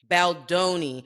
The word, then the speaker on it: Baldoni: Baldoni.